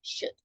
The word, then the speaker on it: should: to tell you remember L is silent you write it but don't pronounce it so it's just shoot okay changing for the